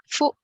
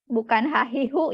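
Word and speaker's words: ふ: Ya, ha, hi, Fu. he, Fu. He ho. he, ho. Ya, jadi bukan hahi, hu ya.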